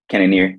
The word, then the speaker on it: Cannonier: Cannonier, yep.